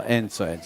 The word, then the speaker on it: Enzo: I also like ENZO because it rhymes with handsome. So ENZO, you see that?